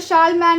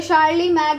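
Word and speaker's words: Charlemagne: during the एज ऑफ the French king शार्ल्ड मैन और यह जो शार्लमैन ने फ्यू शार्ल मैन किंग था बेटा या शार्ली मैग ने जिस जैसा भी आप इसको प्रोनाउंस करना चाहें या शार्ल्ड मैन जो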